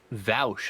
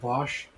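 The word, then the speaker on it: Vaush: just a lot ah vouch huh oh god it's pronounced bosh yeah i just did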